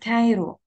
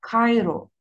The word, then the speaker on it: Cairo: But please don't say it Cairo. حدش يقولها Cairo. You have to pronounce it as a qaf, qaf sound in Arabic.